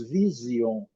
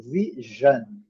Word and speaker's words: vision: Agora, uma combinação que nós precisamos, porque nós temos o vício, nós temos essa combinação em português, SI, mas em inglês é o som de G, G, G, G. Nós falamos vision, eles falam vision, esse som, vision, decision, decision, decision.